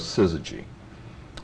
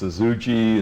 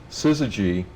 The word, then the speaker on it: syzygy: to bother us and people called us suzuji and suzuji and we thought that